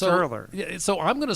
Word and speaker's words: Ehrler: most people can't write because it's earlier it's earlier so I'm gonna spell